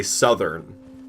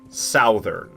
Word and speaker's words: Southern: have to make sure I say Southern and not Southern. Because it's not pronounced Southern, even though it's pronounced South. When you add the ER end on the end, for some reason it changes the pronunciation of South to Suth, which is why?